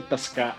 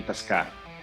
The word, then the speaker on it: Tocka: Well, I say Tocka. In Russian, it would be Tocka, if you just say. But Tocka with the on the first O is a little bit more North American.